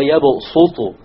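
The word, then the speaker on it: يبسط: It is to tell you that it is preferred to pronounce it with a seen. So you don't say wallahu yaqbidu wa yabsutu.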